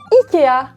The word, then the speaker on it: IKEA: Et que dire de Ikea, que j'ai toujours prononcé Ikea, alors que la moitié de la planète prononce ce magasin IKEA.